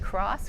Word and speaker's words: Cross: Sometimes when I'm introducing myself and they ask me what my name is, I will say my name is Cross. Cross like you cross the street.